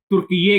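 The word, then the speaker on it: Türkiye: ही जाना जाता था, लेकिन उसका जब हम उच्चारण या प्रोनाउंसिएशन करते हैं तो उसे तुर्की ये कहते हैं। यानी कि तुर्की के साथ में YAY का इजाफा या एडिशन हो जाता है और फिर ये लफ्ज़ बन जाता है तुर्की ये।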